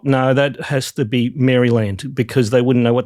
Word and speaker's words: Maryland: So, uh Maryland it is from now on. So, th those listeners that were getting an eye twitch every time I said Mryland, um you guys are now I don't know.